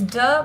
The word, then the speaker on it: 的: It's really short. You don't actually pronounce it specially in any way. And the thing is, duh by itself isn't a word. It's makes something possessive. So it's almost like duh in Spanish. If any of you guys know Spanish, it's almost the same thing, like day, duh and day, almost the same pronunciation even.